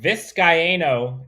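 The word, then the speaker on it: Vizcaino: us the good word viscayno is four syllables thank you i butchered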